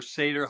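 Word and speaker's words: seiðr: Yeah, there's um something called safe or seder, however you want to pronounce it. The ID R. They pronounce the D as th so it gets a little weird.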